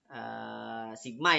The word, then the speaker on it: sigma: Kemudian to-nya adalah sigma ya dibacanya sebenarnya.